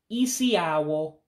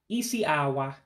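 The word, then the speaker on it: isi awọ: So it's isi awo, isi awa. Let me get it right because I mispronounced it.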